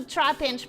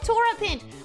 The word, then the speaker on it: Trapinch: Adding one vowel to Trapinch, but yeah. Alright, it's Trapinch, not Torapinch.